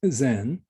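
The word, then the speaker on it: 善: chinese character representing goodness so in japanese it's pronounced zen um probably denote or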